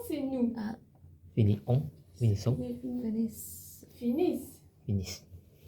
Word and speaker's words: finissent: Finissent. finissent, Finissent. E. T. bravo. C'est important parce que François, il a travaillé ça avec vous beaucoup, hein. Ok? Se prononce la S, I, N, finissent.